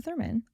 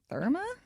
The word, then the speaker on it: Thurman: Is that how you say her name? Yeah, Uma Thurman. I don't know why I was like Therma.